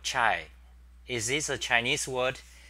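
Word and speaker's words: 茶: So that's pronounced that. Cha. Second tone, cha. And but in I think in Vietnam or Southern Asia they call it chai.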